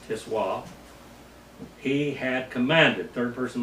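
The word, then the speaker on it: Tsiwah: Tiswa, T-S-I-W-A-H, is how you pronounce this, Tiswa.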